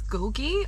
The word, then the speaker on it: Kulki: The shorter one is Gulgi, or Kulki as it's spelt, and that's a very short walk.